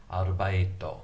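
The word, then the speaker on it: アルバイト: There's only one R sound. There's no L in Japanese. So arubaito, arubaito.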